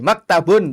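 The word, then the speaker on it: مكتب: Coba Ibu, maktabi, maktabun coba. Maktabun. Maktabun ya. Iya, nggak ada yang panjang Ibu.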